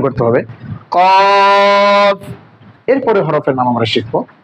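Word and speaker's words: قاف: আসেন, শুরুতে আমাদের হরফ আছে গোল মাথা 2 নক্তওয়ালা কফ। উচ্চারণটা হবে মৃদু মোটা, কফ কফ।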